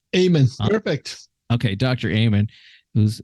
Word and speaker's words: Amen: doctor uh I'm gonna say it wrong again Aben amen perfect okay Dr Ayman who's uh and you